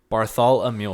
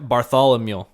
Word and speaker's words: Bartholomew: Okay, let's start over. Bar. Thal. All right, now say Barthol. A mule. Ooh, a mule? Bartholomew. Yep. You're literally saying a mule. Yep, Bartholomew. Ooh, Bartholomew. Yep, there you go. Just say it like Barthol and then think, oh, a mule's over there.